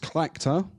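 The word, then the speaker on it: Tlachtga: It's pronounced Clactor, but that's a tricky one.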